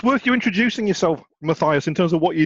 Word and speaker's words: Mathias: It's worth you introducing yourself, Mathias, in terms of what you do as your day job. Okay, so I'm Mathias. Pronounced in Dutch is Matthias, but hey, I'm cool with that.